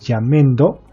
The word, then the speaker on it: Jamendo: Que en realidad el nombre correcto es Jamendo, se escribe de esta